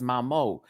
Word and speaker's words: Mamo: It's Mamo. Mamo. Some people have been doing Momo. It's not Momo, it's Mamo.